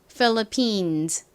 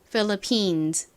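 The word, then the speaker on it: Philippines: 아니라 미국식 발음으로는 PH 세게 쓰 소리 나니까 phillippines 이렇게 발음합니다 phillippines 이제 다섯 번째 단어 코끼리 써 보겠습니다 코끼리는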